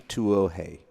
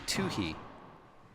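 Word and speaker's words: Tuohy: Amy Tuohe. No, that's wrong. So you have 30 seconds. 2 for 3 in the women's pronunciation. It's Amy Tuohe.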